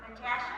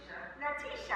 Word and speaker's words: Natisha: Natasha? I say it right? Natisha. I didn't know there was an E there. Natisha.